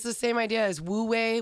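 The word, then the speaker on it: wu wei: the same idea as Wu way which I might be saying wrong but it's spelled w-u-w-e-i Wu way and that whole thing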